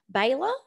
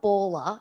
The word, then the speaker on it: Baler: presentation on drum muster baylor did i say it right it's not baller it's baylor i thought i thought